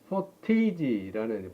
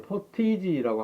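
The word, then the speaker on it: pottage: 그래서 이 죽이라는 말은 포테이지라는 발음을 포티지라고 하기도 하는데, 포타즈라고 하는 야채 스프예요.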